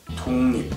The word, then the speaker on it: 독립: According to what we've learned, 독립 should be pronounced as 독립, right? Now, when the ending consonant is 기역, which is then followed by 리을, that 기역 becomes 이응. 독립.